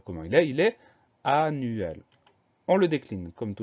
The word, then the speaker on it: annuel: Alors attention, c'est un mot qui termine en EL, mais ça se prononce quand même L. On ne dit pas annuel, mais annuel. L'explication orthographique, je ne l'ai pas, mais c'est ainsi.